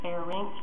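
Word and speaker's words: pharynx: is basically the faerin don't say fairx or LX it's fair Rinx and lay rinks I just have to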